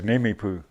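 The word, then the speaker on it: Nimiipuu: The real way is Nimipu.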